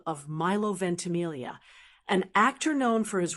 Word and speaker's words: Ventimiglia: Now for the tricky part, Ventamelia. It's pronounced venti.